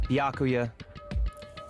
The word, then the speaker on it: Byakuya: all so annoying ah bacula bacula bacula it's byakuya oh I've been pronouncing this wrong the whole time it's byakuya like like Dracula Baka